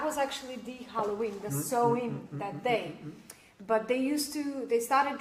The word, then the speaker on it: Samhain: Samhain? I don't know how you say it. Yeah, it's Samhain. Samhain.